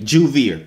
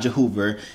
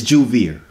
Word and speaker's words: Juvia: said the name flawlessly if you don't know how to say my name that's how you say it Juvia okay it's not Joe Cooper it's not Javier it's not whatever the heck y'all be saying it's juvie R I'm saying let's go